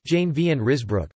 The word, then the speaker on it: Jan van Ruusbroec: The Blessed John van Ruysbroeck, Dutch, Jan van Ruysbroeck, pronounced Jane van Ruysbroeck, 1293 or 1294 to 2 December 1381, was one of the Flemish mystics.